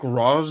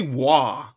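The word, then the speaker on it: Roy: Jason, I have a suspicion you say you say Nick Nick Raw's name wrong because all they say Wah. It's Raw. Everyone says Wah. It's Raw. It's French.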